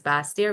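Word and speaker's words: Basseterre: is French term meaning for baser but we pronounce it as bastia which means lower land the capital of nevas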